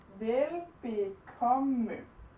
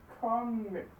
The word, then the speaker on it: velbekomme: Velbekomme. But when we say it normally, we don't say the last syllable, we just say velbekomme. Because this just sort of flows into it. So it just becomes velbekomme.